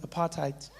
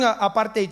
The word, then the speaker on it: apartheid: that sounds nice doesn't apartheid notice how we say it like that these days apartheid it sounds like something you got on your shoe ooh cut some part